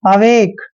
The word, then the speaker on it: awake: कै करते हैं और लास्ट में जब भी आता है ई का उच्चारण हमें नहीं करना है। अवेक।